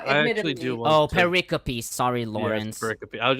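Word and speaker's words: pericope: Uh cuz the first the first time I saw it saw it too, I thought it was paracoup, but then I was like, "Oh, it's actually pronounced paricopy."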